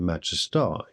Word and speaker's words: majesty: So in Shakespeare's day we can therefore assume that the pronunciation of majesty would have been majestai, to rhyme with I.